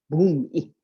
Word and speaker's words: bhumi: Focus upon it, that which rests on the ground, the bhumi, B-H-U-M-I. So you have to pronounce that H.